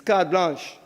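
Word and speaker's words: carte blanche: Card blanch. Not like blanch sh some people can't spell that. It's card blanch.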